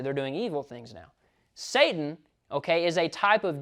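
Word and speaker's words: שָׂטָן: The way it's pronounced in Hebrew is Satan.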